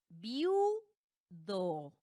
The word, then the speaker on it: viudo: Luego tenemos viudo. Viudo. Sí, la sílaba tónica recae en la u, pero como ya formaron su propia sílaba, una sola sílaba, queda viudo. Recae última, en la penúltima es una grave que termina en vocal o, entonces no puede llevar tilde y se queda así con acentuación prosódica.